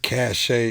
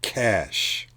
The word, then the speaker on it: cache: look it's not cash a it's cash there's no a in it uh this is the